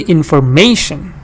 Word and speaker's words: information: da in the form now I say information that that information I told you t-i-o-n always has the stress before it it's like it